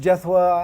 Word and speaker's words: Jethwa: really nice that's terrible i don't know just jethwa and then my mother always tells me it's